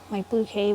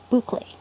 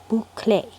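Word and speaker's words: bouclé: I think I'm going to have to add it to my bouquet one. Bouquet? Boucle. Yeah. My mom's been trying to teach me how to say it properly. Boucle.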